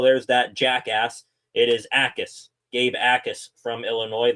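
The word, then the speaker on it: Jacas: It is Jacquess. Gabe Jacquess from Illinois. The j is silent.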